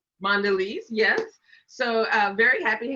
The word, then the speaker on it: Mondelez: Am I pronouncing that correctly? Mondelez. Mondelez, yes.